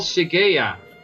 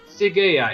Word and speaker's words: Cyaegha: It's called Sigea. And it's an octopus. Yeah, I can see that in the green light. Okay. Yeah. Sigea. It's you spell it as Cyaegha.